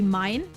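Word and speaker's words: mein: My in German would be mine. M-E-I-N. And name in German would be name in German is spelled the same.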